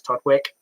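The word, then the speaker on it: Todwick: down there i um i asked a couple of locals how is it pronounced they confirmed it was todd wick i lost the bet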